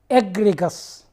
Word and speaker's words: egregious: I remember this word it is very difficult to pronounce at first that first time Rodriguez so you can make a trick to remember it make it egg reach us you plug it in